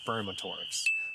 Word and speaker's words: spermatophore: And once the females arrive, the males start to lay what's known as spermatophores. Whoa! Sorry to interrupt, it's just that I really mispronounced that word. It's actually spermatophore.